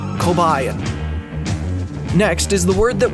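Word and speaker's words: Kobaïan: Armed with this information, I've concluded that the language is pronounced Kobayan.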